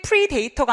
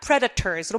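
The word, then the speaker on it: predators: 프레데터가 꼭 있어야 되죠 여러분 발음하실 때이 발음 꼭 주의해 주셔야 되세요 프레이 프리 데이터가 아니라 프레데터스로 발음해 주세요 자 근데 프레데터가 있는데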